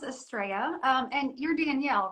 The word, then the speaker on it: Astrea: you all right Hi asria how are you good actually my name is pronounced estrea um and you're Danielle